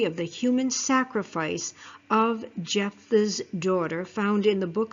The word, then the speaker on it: Jephthah: It is the story of the human sacrifice of Jephthah's daughter found in the book of Judges, chapter 11. Now, Jephthah, pronounced Jephthah, was a judge of